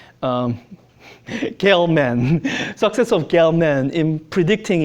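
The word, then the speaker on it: Gell-Mann: the success of oh I learned how to pronounce his name um gale man success of galeman in predicting existence of this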